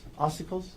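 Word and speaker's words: ossicles: The um and I'm I guarantee I'm going to pronounce some medical words wrong, but oicles. Oicles.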